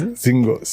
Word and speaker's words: Zingos: You can't hear how it's pronounced. You can know these things. Zingos. It's good. It's good. Yes. Zingos.